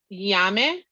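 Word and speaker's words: ñame: And the last one that I got is yame. And it's funny how it's spelled because it's spelled Name. Yeah, But we use it's that a lot as for offerings. mm-hmm. Yeah. So yame, it looks like, I want to get a big piece.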